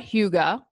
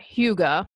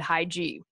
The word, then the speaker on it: hygge: say how to pronounce Hyuga is spelled H Y g ee i would have never guessed that Hugo's how you pronounce that I would have said hi G what I love about